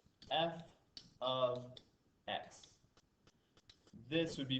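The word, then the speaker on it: f(x): this is actually pronounced this looks like it could be like an f times x but it's actually pronounced f of x equals 5x plus 11 and the command says find f of 2.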